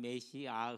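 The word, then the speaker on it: משיח: 보내지게 되는 거죠 아 이제 정확한 히브리어 뭐가 라는 메시앙 흐흐 이렇게 발음을 해야 됩니다 메시아 소리 우리랑 메시아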